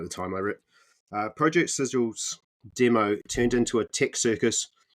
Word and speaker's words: Sigil: Project Sigil. I know how to say that now. I am part of the clan. I think they actually mispronounced that at the live stream though. They called it Sigil.